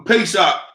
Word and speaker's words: Pesach: look at the word pesach the pay shop is uh uh Hebrew pronunciation of the word Passover it is a sacrifice